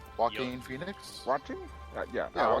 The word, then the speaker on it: Joaquin: guy who did the Joker in the Joker jockey Felix how's it pronounced Joaquin Phoenix watching yeah and I want to know